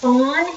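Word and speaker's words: fond: bacon it's making the Fawn it's f o n d but it say but you say it like a deer like a fwn so that is down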